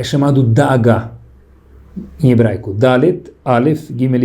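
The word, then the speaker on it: דאגה: A palavra preocupação em hebraico se fala da'agá. Letra Dalet, Aleph, Gimel e Rei.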